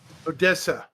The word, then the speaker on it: Odessa: like it's not actually odia it's like it's spelled like um Odessa Odessa yeah it's Odessa yeah OD Odessa is